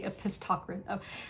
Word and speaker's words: Epistocracy: I always say epistocracy. I always say no, okay, now I can't even pronounce how I mispronounced it before. Epistocracy is how you pronounce it.